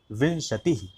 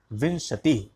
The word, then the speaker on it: विंशतिः: अब यहाँ पर ध्यान देंगे, उच्चारण प्रायः बच्चे गलत करते हैं, विंशतिः बोलते हैं, तो अनुस्वार वी के ऊपर लगा है, इसलिए विंशतिः ये बोलेंगे, विंशतिः।